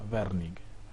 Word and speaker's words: Wernicke: área área área de wernicke área de bernie que así es como se pronuncia werning y por otro existe